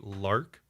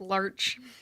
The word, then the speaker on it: larch: potentially going to be lark Cedar and Rosewood that's pronounced Larch it definitely could be